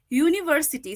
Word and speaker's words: university: this particular sentence though the word university starts with a vowel letter it has a uh consonant sound okay so if it has a consonant sound it will have o